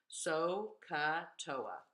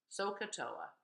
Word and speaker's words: SOHCAHTOA: And we pronounce it like a word. SOHCAHTOA. SOHCAHTOA.